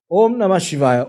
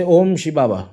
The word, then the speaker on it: Om Namah Shivaya: Om Namah Shivaya, Om Namah Shivaya. And some people feel it's okay to say Om Shibaba, Om Shibaba. Mispronounce the mantra, no problem.